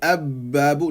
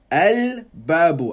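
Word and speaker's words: الباب: We don't say ab-babu, no, al-babu. I put the sukoon on the lam, okay?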